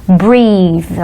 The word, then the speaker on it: breathe: letra E no final, então escreve igualzinho breath, mas ele tem que ser acrescido de I no final, e aí muda a pronúncia, a gente diz breathe, ok?